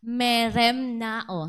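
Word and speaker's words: μεριμνάω: At pinopronounce daw po ito na meremnao.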